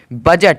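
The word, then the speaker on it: budget: उच्चारण निकला है लेकिन डी का कोई भी उच्चारण नहीं निकला है बी यू जी बी यू डी जी ई टी बजट बजट मतलब होता है लेखा जोखा अब देखोगे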